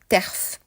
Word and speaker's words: TERF: peut retrouver la présence des T RFS prononcé terf ou encore des féministe